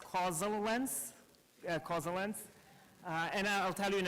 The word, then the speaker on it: causaLens: very much to explain the name it's actually pronounced cause summer winds cause the length and I'll tell you in a little bit